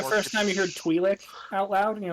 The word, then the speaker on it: Twi'lek: I mean, I'm pretty It's sure like the more first time you heard Twi'lek out loud, and you're like, oh, that's how it's pronounced. Oh shit! Thought it was Twilight.